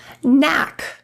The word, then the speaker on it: knack: If you see a K and an N, you can drop the K altogether. Let's look at some example words. Knack, knave, need, knee, kneel,